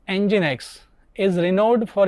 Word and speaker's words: Nginx: software systems and components the next server is engine X it is popular open- Source web server pronounced engine X is renowned for its excellent speed and little